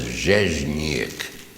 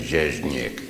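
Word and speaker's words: Rzeźnik: My name was not. It was Zheznik. Everybody say Zheznik. Oh, this is a good group. Nobody can pronounce it. It was a Polish name, Zheznik.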